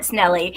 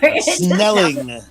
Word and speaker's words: Snelling: Snelling. Oh, not Snelly? Okay. Oh, then No, I believe not you. Snelly. Rhymes with smelly. No. If it ends in ing, it's got to be true.